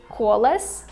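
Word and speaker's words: колос: And I decided to Google the word kolos, which is a Russian word for wheat, because I feel like kolos sounds very similar to colossus.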